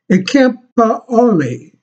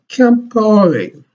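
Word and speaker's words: Compaoré: name is, let me see if I can pronounce it, Campaore, C-A-M-P-O-A-O-R-E, Campaore, were almost like a brother to him.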